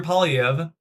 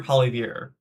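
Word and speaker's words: Poilievre: Conservative leader Pierre Palv, I keep calling him Pierre Palver, Pierre Pal, that's how you pronounce the name, criticized the crown sentencing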